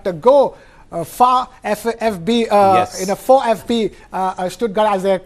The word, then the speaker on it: VfB: For FB, Stuttgart as they pronounce. We call it VFB in English, but in Deutsch they call it for FB.